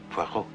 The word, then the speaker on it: Poirot: It is pronounced Poirot.